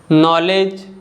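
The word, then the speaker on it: knowledge: जो लेटर के है अगर वर्ड के स्टार्टिंग में आ रहा है और एन के पहले आ रहा है तो के साइलेंट होता है, जैसे कि नॉलेज, नाइफ, नो, नी और नॉक।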